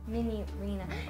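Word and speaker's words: Minireena: Minarina.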